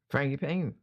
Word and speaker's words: frangipane: How do you pronounce that? Frangipane.